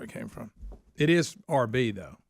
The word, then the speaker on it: Arby's: chose the name Arby's the pronunciation of the letters R&B short for rapael brothers okay so the roast